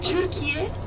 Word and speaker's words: Türkiye: So Türkiye is the name that we pronounce in Turkish.